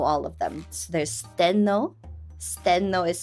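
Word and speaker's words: Stheno: So there's Steno. Steno is spelled S T H E N O.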